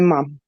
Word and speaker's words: ma'am: And Facebook exposure by you, ma'am. Rhymes with ham. Yeah. It does, yeah. That's what the Queen says. Mam rhymes with ham.